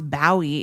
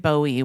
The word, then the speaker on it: Bowie: It's the appropriate, the traditional Scottish pronunciation is Bowie. Okay. And so you think and David Bowie was wrong?